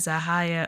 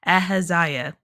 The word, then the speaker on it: Ahaziah: His son Aahia or I've been I keep saying it wrong. Ahaziah becomes king next.